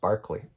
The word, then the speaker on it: Berkeley: of Barkley came along spelled Berkeley but it's pronounced Barkley Bishop Barkley came along and I